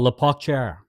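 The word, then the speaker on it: La Pocatière: Uh we get we get to a place called La Pacher. I think I'm pronouncing it right.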